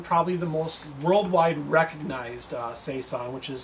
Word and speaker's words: saison: we brought in probably the most worldwide recognized sasa which is say song to pump from how did you pronounce that word again breath three brasserie DuPont